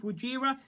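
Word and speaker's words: Wojira: It'd be cool to see the blue one with Wajira, which is actually how you pronounce it now.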